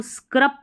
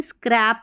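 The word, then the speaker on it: scrap: अब इसको स्क्रब तो पढ़ेंगे नहीं। स्क्रैप होगा।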